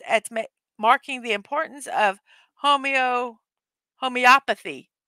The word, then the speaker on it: homeopathy: This day aims at marking the importance of homeopathy. It's homeopathy. World Homeopathy Day. I knew I was pronouncing it wrong.